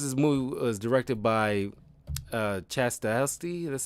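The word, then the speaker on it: Stahelski: But I thought Matrix 4 was solid, and yeah, I mean, and of course this movie was directed by Chastasty. That's how you pronounce it.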